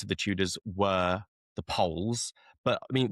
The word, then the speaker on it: Pole: the Tudors were the Poles. But I mean, we say the Poles, or Poole as it was probably pronounced.